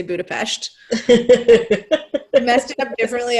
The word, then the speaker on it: Budapest: I don't think I say Budapest correctly or I say very Angloish. It's Budapest is how they say it. It's a eh sound, right?